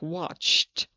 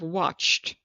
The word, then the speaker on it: watched: Ending number two, we pronounce the ed like a t like watched and it's soft sounds or its other consonants which are not d or t sounds. Let's look. We have watched.